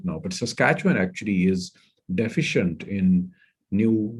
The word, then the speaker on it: Saskatchewan: find it difficult to pronounce it so it's pronounced saskatchewan it is a central province like i said